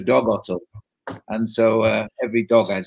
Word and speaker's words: Dag Otto: In Norwegian, you pronounce Dag Otto as Dog Otto.